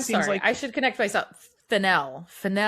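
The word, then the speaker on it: Fennell: If Emerald Fennel's ever seen Rules of Attraction. And I'm sorry, I should connect myself. Fennel. I always say it wrong. It's Fennel. Fennel rhymes with Janelle.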